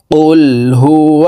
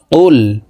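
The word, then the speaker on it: قُلْ: যাবে কফ লাম পেশ কুল আমরা অনেকেই কুল পড়ে থাকি কুল এভাবে পড়লে অশুদ্ধ হবে কফের উচ্চারণ জিহ্বার গোড়া তার বরাবর উপরের তালুর সঙ্গে লাগাইয়া উচ্চারণ করে পড়তে হবে কফ লাম পেশ কুল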